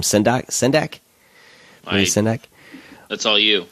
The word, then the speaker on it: Sendak: I can't pronounce his last name. Sendak.